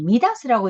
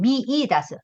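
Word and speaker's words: 見出す: 이렇게 썼을 경우가 이걸 잘못하면 여러분이 미다스라고 읽을 수 있는데 미다스라고 읽으면 안 됩니다. 뒤에 다스가 붙어 있으면 미이다스 성지 선생님 따라서 미츠게르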